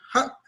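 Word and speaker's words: ja': A, dice ja, ja, o sea, es cortante al tener esta glotal.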